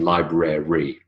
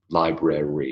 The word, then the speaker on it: library: its favorite favorite favorite and library rather than library library is library okay we didn't talk in the